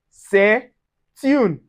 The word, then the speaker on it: c'est une: We also have c'est une. C'est une. All right, so we'll pronounce the T together with the next vowel coming and it gives us c'est une.